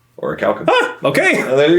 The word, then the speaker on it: Orichalcum: There's no E after that C, so it makes this CUM. Orichalcum. Orichalcum.